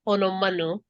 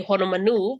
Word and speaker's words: Honomanu: Like on Oahu, there's a street name and it's often pronounced Honomanu. I believe it to be Honomanu because it's a place on Maui.